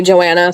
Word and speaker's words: Joanna: known that should have Johna is how I pronounced it yeah it's technically Joanna so that's why I